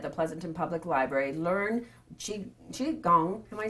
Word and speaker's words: qigong: Learn Qigong. Am I saying it right? Yes, Qigong, yes.